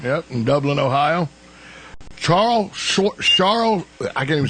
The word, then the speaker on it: Charl: in Dublin Ohio Charles charl I can't even say his name Charles schwarzel A lot of people think it's Charles it's charl char chrl Charles schwarzel